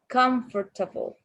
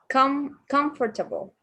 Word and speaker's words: comfortable: The vowel immediately after a stressed syllable is sometimes not pronounced. Continue. Yes. Example: average, different, separate, comfortable, interesting, vegetable. Okay, this one again. Comfortable.